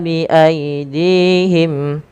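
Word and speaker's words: بأيديهم: Yaktubunal kitaba bi aidihim, panjangkan ta sepanjang 2 harakat karena dia ada alif kecil setelahnya. Bi aidihim, dihim, panjangkan dinya 2 harakat karena di sini ada ya kecil, teman-teman.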